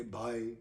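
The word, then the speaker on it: ਬਾਈ: part of the show 22 as i've said before in hindi punjabi is the number is pronounced by the dialect varies and the accent varies according to how you say bye bye but 22 is by so i'm making this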